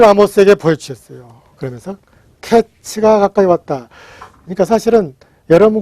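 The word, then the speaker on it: קץ: 그리고 끝 종말을 가리키는 낱말은 캐츠입니다. 그러니까 하나님이 카이츠를 아모스에게 보여주셨어요. 그러면서 캐츠가 가까이 왔다.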